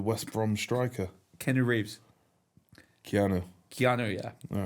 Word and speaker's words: Keanu: We might get Keno on. Keno. Keno Reeves. Did you say Keno? Or Cano, like the West Brom striker? Keno Reeves. Keanu.